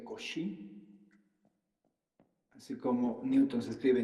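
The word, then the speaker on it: Cauchy: has pronunciado desigualdad de cauchi se pronuncia cosi así como Newton se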